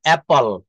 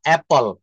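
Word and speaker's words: apple: ব্যবহার করি আপেলের আইফোন আপেল কিন্তু এটা ভুল উচ্চারণ এটা বলতে হবে অপল অপল অপল দেখেন এখানে বাংলাটা লিখে দিয়েছি এ জলা আকার প ল অ্যাপল অ্যাপল অয়ে তারপর জফ লা আকার তারপর প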